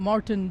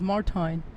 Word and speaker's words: Martijn: of mine, right, whose name I've been wrongly pronouncing for many years. I've called him Martijn Doekes, but that's not his name. The real way to pronounce his name is Martijn, and I think it's not Doekes, but it's Doekes.